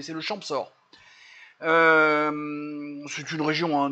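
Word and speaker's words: Champsaur: et les ravioles du champsort et j'ai vérifié on prononce bien le P c'est le champ sort euh c'est une région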